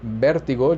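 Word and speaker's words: vértigo: All right, so moving on to number 9, vertigo, and Spanish is the same, vertigo, just with a accent on the E.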